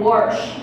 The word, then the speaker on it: wash: She helped me realize that I have been saying on and wash my whole life completely wrong. It's pronounced on and warsh. That's with an R, everybody.